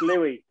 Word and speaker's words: Luis: And Luis, is that correctly pronounced? It would be if we were in France. Louis. Or Spain, maybe. It's Louis. Louis.